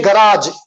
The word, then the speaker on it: garage: Okay, लगेज अलग है, गराज अलग है। So these 2 words I know wherein you need to stress on second syllable, you need to lengthen it. Say garage, massage.